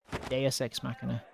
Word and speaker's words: Deus Ex Machina: Deus Ex Machina.